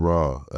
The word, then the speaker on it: Ra: Lord Ra. Ra is spelled with no W. It's spelled like the Egyptian sun god. So R-A, Lordra.